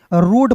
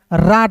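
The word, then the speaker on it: road: ओ ए डी दोस्तों तो इसे रूट पढ़ेंगे रड नहीं पढ़ेंगे। अब देखिए यहां पे समझिएगा दोस्तों याद रखिएगा जब दो वोवेल ओ और ए एक साथ दोस्तों रहते हैं ना एक साथ ठीक है जी तो ए ओ का उच्चारण करते हैं ए का उच्चारण नहीं करते हैं तो आर का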